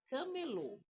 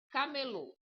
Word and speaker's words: camelô: Não, você vai colocar força no low, tá vendo aqui, ó? Low. Não, não, não. Por que não? Porque você tá colocando assim, ó. C. Não tenho, eu não tenho acento no aí não vai ser c, ele vai ser um um k normal. Ele vai ser assim, ó. Camelô.